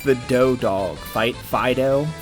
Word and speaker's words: Fido: Fido? I think you just pronounce it Fido, like, you know, like, here, Fido.